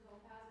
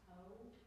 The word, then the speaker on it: topaz: Watch also, since we talked about the O earlier, watch if you're singing the word topaz, it's not toe, topaz. Forget that there was ever an oo involved in that syllable.